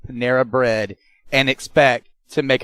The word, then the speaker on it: Panera: You know that, how do you say that word that I mispronounce all the time? The bread company? Oh. Merida? Panera? Oh, Panera.